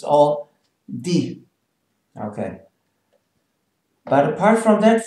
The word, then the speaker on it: die: Die, it's a long E.